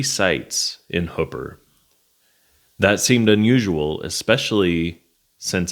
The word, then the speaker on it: Hooper: I'm saying Hooper, and I think that that's historically correct. But I've also heard Hooper, which I say in this video, and I've even heard Hupper, which I don't know how you get that, but I've heard it from multiple people, so I'm assuming that that is also a correct way to pronounce it.